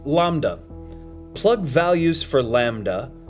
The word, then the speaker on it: lambda: which is represented by the Greek letter l pronounced Lambda plug values for Lambda called Dark Matter and